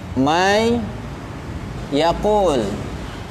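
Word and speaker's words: من يقول: Nun sukun atau tanwin bertemu dengan huruf yang 4, nun, waw, mim dan ya, maka dimanapun kita membacanya pasti hukum tajwidnya adalah idgham bi gunnah.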